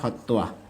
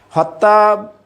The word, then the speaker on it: হত্বা: হ প্লাস তোয়া, বয়ের উচ্চারণ এভাবে যখন তয়ের নিচে ব থাকবে, বটাকে উচ্চারণ করতে হবে। তো সংস্কৃতে এটাকে উচ্চারণ করা হয় হত্তোয়া। হত্যা বললে ঠিক নেই, হত্তোয়া।